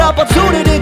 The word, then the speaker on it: opportunity: The opportunity comes once in a lifetime. Souls escaping.